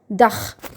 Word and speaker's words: Dach: Okay, so when ch follows vowels like u, a, then it will be pronounced as kh of English. It means kh. Okay. Zum Beispiel, for example, der Dach.